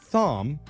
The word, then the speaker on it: Thom: We've got an interesting situation on our hands here with one of our listeners, Thom, spelled like Tom, but with an H in there.